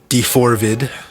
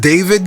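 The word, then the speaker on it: d4vd: in Hollywood Hills that was also linked to Dorvid. again. I know his I know it's pronounced David, guys, but I'm going to continue to call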